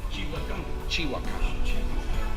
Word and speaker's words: Xihuacan: Xihuacan.